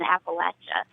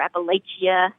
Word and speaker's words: Appalachia: I've never heard anyone from our area, from Appalachia, call it anything other than Appalachia. When I hear someone say Appalachia or Appalachia or however they pronounce it, to me, that signifies that person is not from the Appalachian region.